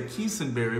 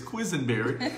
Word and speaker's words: Quisenberry: pastored by the Quisenberry is how I would always say heesun berry but he said it's Quisenberry because I had to get